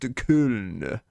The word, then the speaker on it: Köln: DMV, it's pronounced Köln.